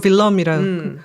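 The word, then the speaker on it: Willem: 그래서 윌리엄 오랑예라고 얘기를 하 오니의 공이라고 하는데 빌럼 일세라고도 얘기를 하더라고요. 예. 빌럼 공이라고 해야 되나? 그 네덜란드 본토 발음으로 빌럼이라. 근데 네덜란드 가면 빌럼이라는 사람 너무 많아.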